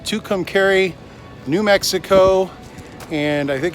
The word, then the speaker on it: Tucumcari: We are at the Blaze Inn Saddle RV Park, and I guess it's pronounced Tucumcari, New Mexico, and I think it's named after the mountain, which is, you can see it behind me, way back there.